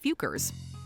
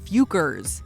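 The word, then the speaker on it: Focker: But in their defense, the questionable word is pronounced Fukers.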